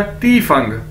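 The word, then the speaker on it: 地方: ठीक है, अब दोस्तों हमारे पास नेक्स्ट वर्ड है चाइनीज DIFANG, डी को हमें पता है हम ते से प्रोनाउंस करते हैं, तो क्या बन जाएगा, ती फंग, ती फंग यानी प्लेस, जगह, ती फंग प्लेस, जगह।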